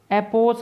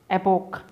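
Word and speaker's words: epoch: इसको एपोस नहीं पढ़ना है, इसको हमको एपोस भी नहीं पढ़ना है, एपोस भी नहीं पढ़ना है। The correct pronunciation is the word is एपोक। Last में कै का साउंड हमें देना है।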